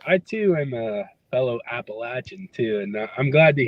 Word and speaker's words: Appalachia: the audience know that's the correct way to pronounce Appalachia too there's no Appalachian but yeah it's been